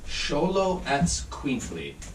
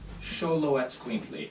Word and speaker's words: Xoloetzcuintli: It's actually pronounced Xoloetzcuintli. Xoloetzcuintli.